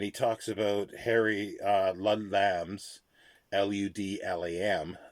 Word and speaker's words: Ludlam: talks about Harry Ludlam's, Ludlam, not Ludlum. Could be pronounced as Ludlum, I suppose, but I don't know.